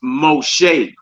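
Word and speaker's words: משה: The next word down from there is Moshe.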